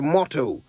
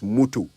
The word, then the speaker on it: motto: settles it at last the words are motor and motto no such thing as mutu not if you're saying it right all right let's see